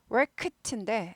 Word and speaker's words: worked: A man worked 한 사람이 한 남자가 사람이 worked인데 예, 그가 묵음은 아닌데 예, 튀진 않아요. worked 구부리는 게 잘 들려야 됩니다. worked 이랬다요. 이랬다. 드 발음 이거 트 발음 납니다.